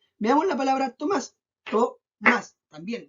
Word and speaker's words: Tomás: Tomás. También 2 sílabas.